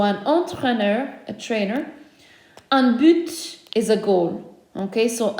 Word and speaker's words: but: Un but is a goal. Okay, so un but, a goal. Rarely do we pronounce the last letter in French words, but we can do that here. So un but, a goal.